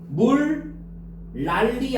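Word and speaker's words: 물난리: 자, 우리 어떻게 발음해요? 18번의 기억은 물 랄리 아닙니까? 물랄리. 그죠?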